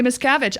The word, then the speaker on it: Miscavige: Miscavige? Yeah, Shelley Miscavige.